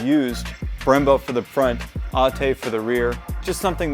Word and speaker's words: ATE: manufacture these brake pads it's actually not called ate it's pronounced atte this is a european brand which i think is pretty interesting that honda has used brembo for the front atte for the rear just something that i'm not